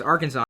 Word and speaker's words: Arkansas: it took me forever to realize it was Arkansas not Aransas even though it's spelled Aransas why isn't can isn't isn't if